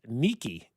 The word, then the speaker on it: Nike: Which, by the way, Nike, I learned, is actually pronounced Nike, and it was the goddess of like victory and winning and stuff like that.